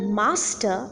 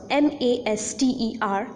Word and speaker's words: master: the word Master hence the first syllable is the stressed syllable let us take few